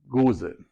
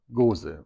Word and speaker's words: Gose: So the Belgian style is Goes, and the German style is Gose. Goes. And Gose.